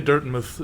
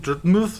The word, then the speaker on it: Dirtmouth: Like, why do you spell it mouth and then say muth?